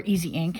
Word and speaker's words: IZINK: And to color our cardstock, we're using IZINK, or IZINK is how they say it, Dye Spray.